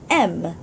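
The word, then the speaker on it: М: the bottom moving on M like my first name it begins with an M now it's like the English alphabet when we say m so just this is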